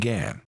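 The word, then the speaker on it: gangue: or minerals and worthless rock called Gan pronounced Gan the slurry is placed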